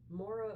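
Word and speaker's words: Maire: you um well um Mora o'keef that's spelled m a i r e o'keef um is an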